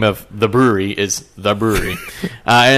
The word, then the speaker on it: Bruery: That's the name of the brewery is the brewery, and it's not spelled brewery. It's spelled BRUERY.